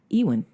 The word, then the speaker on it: Ewan McGregor: Yeah, Ewan. Ewan. I'm telling you how it's pronounced.